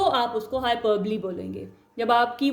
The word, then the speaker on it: hyperbole: Next one इज हाइपरबली। ठीक है, इसको आपने प्रोनाउंस कैसे करना, हाइपरबली। ये जो है ली की साउंड जो है वो देगा।